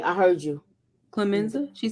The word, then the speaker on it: Clemenza: Clemenza?